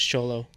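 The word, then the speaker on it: Xolo: of the Blue Beetle I thought it was cholo is Ito is Ito orolo I thought is supposed to be pronounced as CH like a sha yeah X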